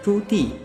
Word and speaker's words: Zhu Di: To make it easier for you to grasp the pronunciation of his name Zhu Di, actually you may find it sounds something like a girl's name Judy.